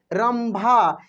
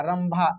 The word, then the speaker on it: रंभा: यहाँ पे उच्चारण करके देखिए, इस बिंदी को हम लोग म पढ़ रहे हैं। क्या पढ़ रहे हैं? म पढ़ रहे हैं। चंपा, चंपा, म का उच्चारण हो रहा है। रंभा, यानी कहने का मतलब